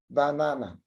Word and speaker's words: banana: So we make a kind of stress on the second syllable in the word banana. So the first ba is unstressed, na is stressed, na, the third syllable is unstressed.